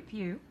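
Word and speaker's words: Pugh: How do you pronounce that, Cheryl? Pew. Pew.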